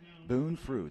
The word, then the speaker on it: Boone Frood: Boone Frood.